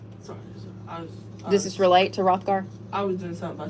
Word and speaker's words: Hrothgar: Hrothgar, that's how you say it. Hrothgar, Hrothgar.